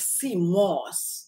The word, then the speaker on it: sea moss: That is, someone was telling me the other day that, oh, every time you talk about sea moss, you'd say it like it's mask. It's sea moss, okay?